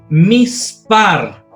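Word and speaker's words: מִסְפָּר: Pero, como dijimos que el Sheba está entre dos vocales, se transforma en divisor de sílaba. Entonces, la regla me dice que la letra que sigue, si pertenece al Begat Kefat, se le coloca el puntito, el Dagesh leve.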